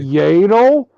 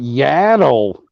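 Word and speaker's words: Yaddle: yal you pronounce it yel I've been pronouncing it yadle don't matter don't matter it looks like it's spelled like saddle but with a Y no it's like [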